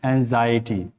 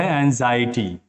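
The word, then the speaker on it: anxiety: देते हैं बोलते हैं तो इसका परफेक्ट उच्चारण जो है वह एंग्जाइटी मुर्गे नेक्स्ट मेंढर सेक्टर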